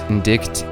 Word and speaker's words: indict: Oh wait, indict is pronounced indict, and I used the wrong then right then.